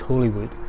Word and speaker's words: Holywood: The building behind me is the old Ferry of Hollywood, and it should really be pronounced Holywood.